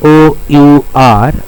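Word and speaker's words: hour: Now, can you see here the H O U R the word our H is silent. We are not pronouncing the word H here.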